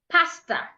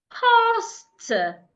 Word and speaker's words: pastor: Many times we pronounce these 2 words as pasta, pasta. No. The first word, the ones that mean a leader in the church, should be rightly pronounced pastor. The letter A in that word makes a long sound.